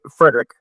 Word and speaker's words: Fredi: the commission fredi I am I pronouncing that right is it Frederick it's Fredick Fredick Fredick there we go yeah uh the only